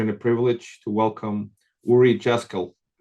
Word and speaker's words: Uri Jaskiel: and today it is my pleasure and a privilege to welcome Uri Jaskiel. Sorry, Uri, I mispronounced your name. Uri Jaskiel. Perfect. You got it right. Uri Jaskiel.